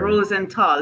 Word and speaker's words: Rosenthal: Rosenthal. Did I pronounce that correctly? You pronounced it wonderfully. I love it too. The purple, I love it. I did. Rosenthal.